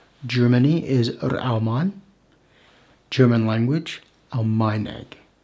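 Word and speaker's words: Almaeneg: German language, Almeineg. The stress is on the penultimate syllable.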